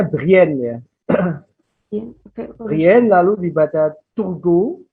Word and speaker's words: Brienne: Itu dibacanya Brienne ya.